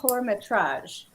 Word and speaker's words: Métrage: No, I'm just going to correct the pronunciation. So it was the Festival de Cannes, Métrage. Oh, Métrage.